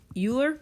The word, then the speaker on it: Euler: is called Euler's theorem I know his name is spelled Euler but it's pronounced Euler oh my gosh this